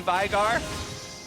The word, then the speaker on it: Veigar: It's an Icelandic name, and it's actually pronounced Veigar. You hear a lot of people say Veigar, but I know the actual human. Okay. I lived with him, and it's pronounced Veigar.